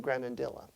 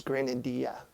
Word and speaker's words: granadilla: what's an oboe made of wood also often granadilla I've mispronounced that word for forty some odd years I always thought that it was green India so I learned something new every day as